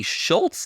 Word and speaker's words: Schultz: for goal of the week you have lucky Schultz that that's how you pronounce his name Schultz with a roller deep